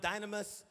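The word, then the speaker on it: δύναμις: that word power is it's pronounced dynamous enemies power to perform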